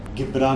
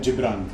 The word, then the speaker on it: Gibran: मेरा नाम अगर इंग्लिश में प्रोनाउंस करेंगे तो गिब्रान होगा। गिब्रान होगा, हाँ। बट मुझे मेरे डैड ने नाम दिया है जिब्रान।